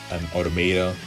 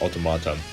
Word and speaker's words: Automata: Next series I want to talk about is Nier Automata, or some people pronounce it Automata. I call it just Automata.